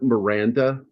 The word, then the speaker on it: Miranda: It's Robert Miranda, like Miranda rights.